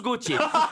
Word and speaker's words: Gaultier: Ça s'écrit Gaultier, mais ça se prononce Gauthier.